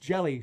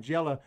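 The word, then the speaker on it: Hjelle: so yeah i mean here's our pronunciation guide okay sean jail it says just jelly sean jelly i've been calling gela from the first time in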